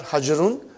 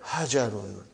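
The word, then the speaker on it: حَجَرٌ: There is a fatah on jim. Not hajarun, but hajarun. Okay, brother.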